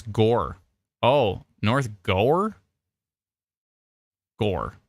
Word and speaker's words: Gower: you please check it's Gore oh North Gore Gore just Gore like Gore in a movie like in a scary movie the gore G rhymes